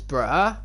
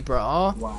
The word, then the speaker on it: bra: word good in swedish which is bruh i kid you not it's actually bro it's bra but it's so much